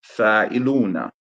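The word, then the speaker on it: فاعلون: fa'iluna, you pronounce it as fa'ilun. There is a statement that ends here. Fa'iluna. Fa'ilun, right? Not na. You don't pronounce the kasra on the noon. So just fa'ilun.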